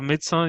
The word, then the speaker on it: médecin: Alors médecin, you cannot include. Yeah, médecin, you don't pronounce the S, but you pronounce the N.